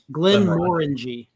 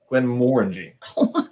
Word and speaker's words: Glenmorangie: So how do you pronounce it? Glenmorangie. Glenmorangie.